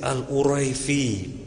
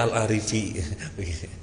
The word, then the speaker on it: Al-Arifi: Seperti misalnya ada tulisan Muhammad Al-Arifi, orang bacanya Al-Arifi. Kemudian ada orang mengoreksi, bukan Al-Arifi, itu dibaca mesti Al-Uraifi. Yang nggak tahu yang benar yang mana. Ternyata memang namanya Al-Arifi.